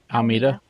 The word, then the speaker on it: Almeida: I always double check the pronunciations. Uh, your last name. Almeida. Almea.